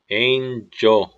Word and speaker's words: angel: 이게 대한민국에서 가장 자주 일어나는 그 발음 실수입니다. R 없는데 굴리는 습관. 여기는 R이 없어요. R 글자가 없기 때문에 엔젤이 아니라 angel, angel, the angel of the Lord found Hagar